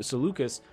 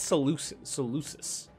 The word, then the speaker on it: Seleucus: After the fall of Mesopotamia and Persia to Seleucus, I never know if that's a hard C or a soft C. I think it's Seleucus.